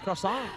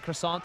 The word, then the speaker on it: croissant: You don't really pronounce the T in croissant anyway, do you?